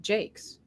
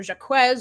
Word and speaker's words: Jacques: and I he do you know that he pronounces it Jake's does he he does isn't that he totally Americanized it right we were we used to call it yeah Brian Jacques or jacquez or something like this no Brian Jakes because